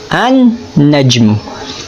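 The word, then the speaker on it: النجم: Pero, nang pumasok ito sa salitang najmun, hindi na nabanggit ang tunog ng lam. Bagkos, naging doble pa ang tunog ng unang letra.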